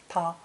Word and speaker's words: 她: for she and her is also pronounced ta but with the female